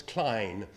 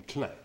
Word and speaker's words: Klein: eve clan did okay you probably pronounce klein but the french call him claire i don't know about